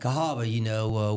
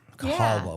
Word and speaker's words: Cahaba: And Cahaba, was the original pronunciation of the Cahaba River. Cahaba with a W in there, Cahaba.